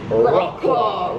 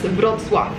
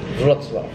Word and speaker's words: Wrocław: like a total gringo, like, you might say Wroclaw, Wroclaw, but that's not it. Yeah, so we had to Google the pronunciation. Apparently, it's Wrocław. Wrocław.